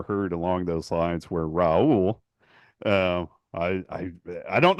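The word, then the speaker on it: Raúl: Name I'd ever heard along those lines were Raul um I I I don't know how we got into the conversation but I told you no his name's Raul even though I listen to the games on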